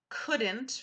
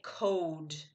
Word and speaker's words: could: she was seven okay one thing I want you to think about with could okay so there's an L right but the L is silent okay good I also don't want to say code okay good hey and